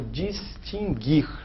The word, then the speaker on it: distinguir: exemplo sobre a palavra distinguir sem trema e as pessoas usam muito distinguir muito distinguir no brasil apenas colegas advogados usam bastante a distinguir sem trema indica que esse erro não é pronunciado o que ocorre com